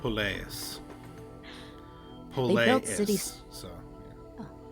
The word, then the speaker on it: Poleis: When the ancient Greeks colonized the Mediterranean, they built city-states known as How do you pronounce that word? Poleis.